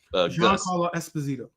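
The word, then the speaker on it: Esposito: Um, so maybe uh he'll be I can't pronounce his name. Espazito.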